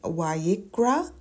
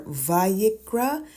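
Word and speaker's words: ויקרא: it's being spoken so it can be pronounced as a v or a w and it's again VRA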